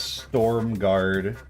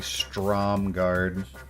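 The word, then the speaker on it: Stromgarde: I pronounced this as Storm Guard for about 15 years before I realized it's actually Strom Guard.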